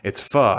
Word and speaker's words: pho: And when we first pulled up, I was like, "What's pho?"